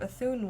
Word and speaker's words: Ethune: so welcome everyone for this uh tower of athun one shot i hope i'm pronouncing that right yep great so we'll go